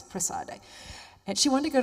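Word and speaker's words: Prassede: to the church of, in English we say Praxedes, in Italian it's Prassade.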